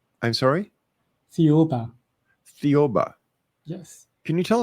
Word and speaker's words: Thiaoouba: Now, there's a prophecy that you want to talk about, and I cannot figure out how to pronounce it. So, I Thiaoouba. I'm sorry? Thiaoouba.